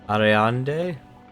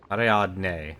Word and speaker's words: Ariadne: I can't pronounce her name. Ariande? No. Hang on a second, we're gonna be doing this for a while. Ariande. Ariadne. Huh.